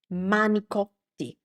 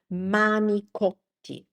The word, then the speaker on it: manicotti: Uh in Italian, that word is actually this. The correct word is actually this. manicotti manicotti So, as you can see here, what happened is this.